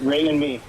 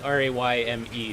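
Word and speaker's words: Rémi: I've given up correcting people just because Anglophones just tend to call me Remy, and it is what it is. But Okay, yeah, so it's Ray and me. yeah. It's pronounced like Rayme, sort of, you know.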